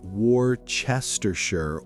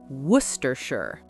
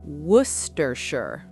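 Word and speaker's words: Worcestershire: In English, especially with place names from England, we don't always pronounce every letter.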